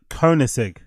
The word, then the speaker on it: Koenigsegg: Oh, that's how you pronounce it. Koenigsegg.